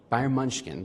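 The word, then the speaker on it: Bayern München: I look I'm still trying to learn how to pronounce uh Bayern Munchkin. Byron Munchkin. That's how you say it in German.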